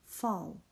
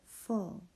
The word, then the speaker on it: full: Now these two, if we sound this out, we would say f-ul, fall. But we don't pronounce it fall. We pronounce it full.